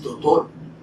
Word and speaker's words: doctor: Doctor tiene una C, entonces esa C es para pronunciarla. Esa C no se le antojó a nadie ponerla ahí porque se ve bonita, porque se ve fea. Esa C es para pronunciarla. Doctor, no doctor.